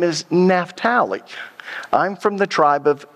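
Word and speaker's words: Naphtali: that naft how many of you grew up pronouncing it napali that's the way I always pronounced it until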